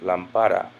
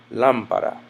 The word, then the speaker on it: lámpara: Otherwise, it would have a natural stress on this syllable, lámpara, but it is rather lámpara.